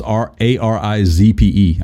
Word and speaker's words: Arizpe: Is it Erzepe? Let me get this thing open. Ramos Erzepe. It's Arizpe.